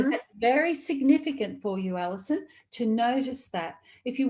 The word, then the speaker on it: Alissan: It's spelled quite uniquely. It's ALISSAN. So Alison. Alison.